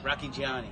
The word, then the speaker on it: Rocchigiani: Roscigiani. Was he How do you say it? Rocky Johnny? Rocchigiani.